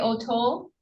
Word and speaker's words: O'Toole: And are you Larry O'Toole? Yeah, I'm O'Toole. It is pronounced O'Toole.